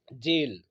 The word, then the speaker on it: gaol: जेल, ठीक है, ढंग से देखिएगा इस वर्ड को। इसका प्रोनाउंसिएशन और ये इसकी स्पेलिंग में बहुत बड़ा अंतर है। तो इसको पढ़ेंगे हम जेल, और स्पेलिंग है GAOL।